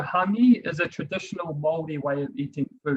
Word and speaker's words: hangi: If you see the picture here on the left-hand side, this is pronounced, you'll see it written at the bottom there, as hangi. So hangi is a traditional Maori way of eating food, or preparing food, I should say.